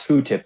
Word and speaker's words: FFOO tip: Well, first of all, it's pronounced food tip, like Q-tip.